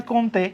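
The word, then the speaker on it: Comte: উচ্চারণ হয় কমতে।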